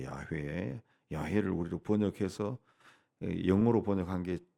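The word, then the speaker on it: 야훼: 말이 여호와 여호와 여호와 히브리어로는 이제 그 발음 하면은 이제 원래 여호와는 그 어이 자음으로만 돼 있는데 그걸 이제 몸을 갖다 붙여 가지고 여호와라고 하는 거 야외라고 하는 거죠 야회 야를 우리로 번역해서 영어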